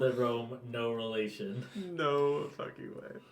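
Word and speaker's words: Roan: You find yourself, I can't believe I need to say this, in Rome. Sorry, what? We No, called it Rome, no relation.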